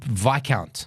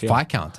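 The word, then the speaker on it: viscount: like like pure pure vicount vi v count I learn how to say it because of him and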